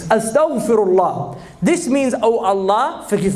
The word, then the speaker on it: astaghfirullah: It's not astaghfirullah. It doesn't say astaghfirullah. They can't pronounce the ghain. It's astaghfirullah.